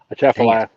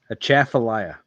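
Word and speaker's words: Atchafalaya: Did I say it right that time? No. A chaffalia. Say it again. A chaffallayia. A chaffallayia. There you go.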